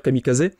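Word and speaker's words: kamikaze: avec les attaques kamikaz qui se prononce d'ailleurs Kami Kazé et Kami c'est donc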